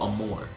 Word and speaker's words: amour: Oh, Amour, I believe is how it's pronounced. Which means love in French.